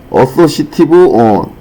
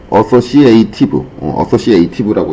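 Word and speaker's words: associative: 유저 프리퍼런스 여기 여기에 오시면은 어소시티브 디멘저닝 발음 안 좋은 거 이해해 주세요. Make a new dimension 어소시에이티브라고 읽어야겠네요.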